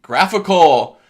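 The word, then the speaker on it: GraphiQL: So, without further ado, graphical. People never know how to say this. I hear GraphQL. It's graphical, right? So like a graphical user interface.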